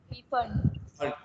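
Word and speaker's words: Pfund: First Lyman, Lyman, Balmer, पाश्चेन, bracket और फंड, और फंड P silent है, हाँ पी साइलेंट है बेटा, फंड है, ठीक है, फंड सीरीज।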